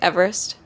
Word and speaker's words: Everest: It's usually, I say Everest, but it's like Everest is how I'm supposed to say it. Like I'm supposed to say Everest. Like ist instead of est.